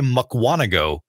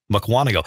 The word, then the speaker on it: Mukwonago: I had the biggest problem trying to say Mukwonago Wisconsin Mukwonago and about the time that he decided not